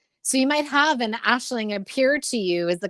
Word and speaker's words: Aislinn: means dream or vision and then ashling which is how you would say my name in irish it's an irish name and the phonetics don't match the the the letters in in anglo uh dialect but a nationaling is